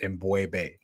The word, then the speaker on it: M'Bwebe: Um correct pronunciation of my name is Embu. Embu.